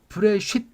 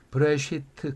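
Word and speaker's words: בראשית: 그러니까 이걸 브레쉿 이렇게 발음하는 사람도 있는데 브레시트 그 개념을 이해해야만 한다 그 말이죠.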